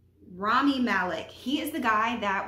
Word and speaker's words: Rami Malek: I think that's how you pronounce his name. Rumi Malek? Rami Malek.